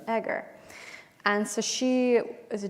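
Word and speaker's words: Eger: Egger. Egger.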